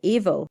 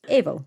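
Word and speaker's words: Aoibheall: your Banshee is called evil so that's aoibh e-a-l-l and it sounds like the word evil but evil interesting I wonder if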